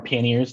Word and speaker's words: panniers: These are called panniers or panniers, depending on if you like pronouncing it like you're French.